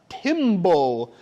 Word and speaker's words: timbal: their body called a timble can you say that word timble can we say oh it kind of sounds like the word timber that a lumberjack says when they chopped on